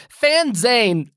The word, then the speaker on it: PhanZane: everybody fan zane p-h-a-n-z-a-n-e it's like a fanzine for phantom and the fans spelled like phantom and the zane is like billy zane okay billy zane of the phantom 30 minutes on the